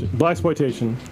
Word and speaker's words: Blaxploitation: Exploitation, but it's blaxploitation. I'm pretty sure that's how it's said.